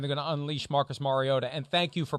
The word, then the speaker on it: Mariota: to play and they're going to unleash Marcus Mariota and thank you for pronouncing it Mariota I I don't want to name names but